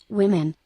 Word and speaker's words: women: This system has no way of indicating that the O here actually makes an I sound, so it approximates.